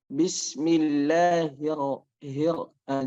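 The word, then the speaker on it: بسم الله الرحمن الرحيم: Kalau ro-nya itu bertasdid, maka itu dia sudah menjadi huruf yang satu, dan hukumnya ketika ada ro bertasdid kemudian dia berharokat fathah, maka dua-duanya itu dibaca tebal. Bismillahirrahmanirrahim. Bismillahirrahmanirrahim. Nah, seperti itu. Dan sama kaidahnya itu tidak boleh menggunakan bibir ya dalam mengucapkan huruf yang tebal.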